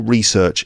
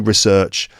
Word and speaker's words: research: In British English, the noun research can be pronounced either way.